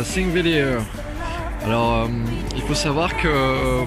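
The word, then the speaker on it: Þingvellir: le j'arrive à Singveur. Alors, il faut savoir que bah la petite lettre là au début du nom en fait ça correspond à un th de prononcer à l'anglaise on pourrait dire zinger.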